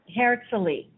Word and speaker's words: Hertsilie: and it's a short name for hertzley it's pronounced it's h-e-r-t-s-i-l-i-e okay herxley okay now um so uh Isla hadn't seen